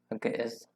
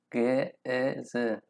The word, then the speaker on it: Ge'ez: Hello, this video is to introduce about Ge'ez language. So we can pronounce the name, this name as Ge'ez, Ge'ez, and it's in its own alphabet.